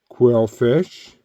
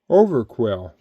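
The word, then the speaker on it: Overqwil: as well H that's weird Okay V Star quill fish oh over quill sorry brother I think I said your name wrong the whole time anyways that's over Quil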